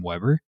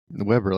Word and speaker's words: Weber: and general manager Cam Weber, or Weber, I don't know how you say that one. There's only one B. How do you pronounce it when it's one B? Weber, like the grill, right?